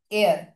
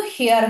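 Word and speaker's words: heir: এখানে যেমন দেখো অ্যান এয়ার, এয়ার মানে কি? এয়ার মানে হচ্ছে উত্তরাধিকার, এটার উচ্চারণ কিন্তু হেয়ার হয় না, এইচ ই আই আর, হেয়ার নয়, এয়ার, এয়ার, এয়ার উচ্চারণ যেহেতু আমরা করছি এ, তাই না?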